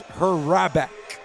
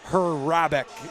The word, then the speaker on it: Hurrabec: I do appear that I was pronouncing the Ironmen goaltender incorrectly. It's Hurrabec. Chris Hurrabec is the official proper pronunciation, so I'm going to make